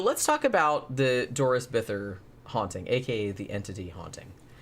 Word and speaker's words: Bither: investigators on her case, calls her Bither. Okay. So I'm not really sure. I mean, he knew her, so presumably that's how you pronounce her last name. Okay. It's just weird because it looks like Bither, but who am I to say?